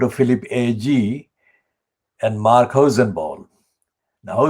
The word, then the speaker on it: Hosenball: philip agee and mark hosenball now that ball is spelled not like a pakistani or muslim hussein but hosenbal is h o s e n b a double l heisenberg mark hussein